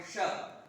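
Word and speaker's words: ष: थी, मूर्धन्य और इसमें मूर्धन्य शाम में जीभ नीचे की तरफ श श। क्या बोला? श, ऊपर नहीं ले जाना, श, जीभ को नीचे बोलना है, श।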